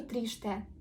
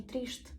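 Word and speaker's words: triste: е читаємо як і якщо е стоїть в кінці слова воно буде вимовлятися як и и або майже не вимовляється можете просто його собі закреслювати на початку трішці сумний бачите я не кажу тріште Я кажу трішшт сумний далі якщо ви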